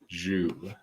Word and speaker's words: Zhu: It is kind of Zhu.